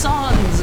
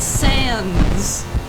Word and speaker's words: Sans: Also, I would like to say that it's pronounced Sons. It is not Sans.